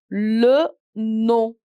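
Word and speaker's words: le nom: last name which is l no no no where my m is silent l no is your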